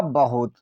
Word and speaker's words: बहुत: तो बी से वाह बनता है, ए साइलेंट रहेगा, एच से ह। अब यहाँ पर यू है, छोटी यू की मात्रा देंगे, टी का मतलब ता, हुआ बहुत।